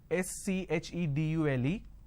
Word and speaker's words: schedule: I mean by this the British pronunciation is schedule and American pronunciation is k schedule and this is a